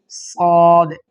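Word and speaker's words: صاد: করার জন্য ট্রেনে পড়বেনশি তারপর হচ্ছে সদ সতে বাতাস বের হবে সফের সিফাত আর হচ্ছে সদে চার টেনে পড়বেন সদ সদ এটা একটু করবেন একটু মোটা করবেন মোটা ইসতেলার হরফ মোটা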